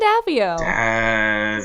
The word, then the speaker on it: Daviau: Daviau. Because it's French.